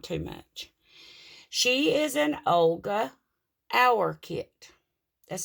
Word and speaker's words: Olga Auer: She is an Olga Auer kit. That's spelled O-L-G-A-A-U-E-R.